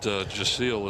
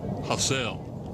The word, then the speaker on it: Jasiel: That Jasiel is actually Hassel. Oh, is it Hassel? It's Hassel. Hassel. And the coaching staff made sure that I knew that, too. it's spell it Hassel, H-O, that way you don't make the mistake.